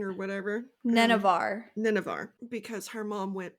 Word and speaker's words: Nenavar: Because they mention her going back to the place she's from, and that is what then started the war in Navarine or whatever. Nenevar.